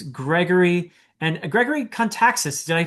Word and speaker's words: Kontaxis: And for my very special guest today, it's Gregory and Gregory Kaxis. Did I pronounce that correctly? I I forgot to ask you actually. Actually, it's very correct. Gregory Kaxis, author of The Return of the Knights.